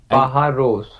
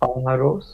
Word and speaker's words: pájaros: Just listen my pronunciation is pájaros, because you're gonna see in the first we have tilde, and it is that we have to increase the voice in that side.